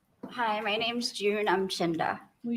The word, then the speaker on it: Umchinda: I'm Chinda. Will you spell that, please?